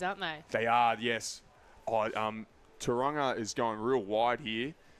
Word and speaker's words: Tauranga: Tauranga.